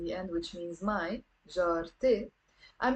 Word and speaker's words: جارتي: end, which means my, jarte, I'm not saying jara e. I end up pronouncing this te marbuta here, okay? And I say jarte, not jarae. We don't even say jarate.